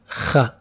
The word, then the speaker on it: خ: You can think of soft ka. Ka, it is kha. This letter is there for Spanish language. So anyone who knows Spanish, he knows this letter kha.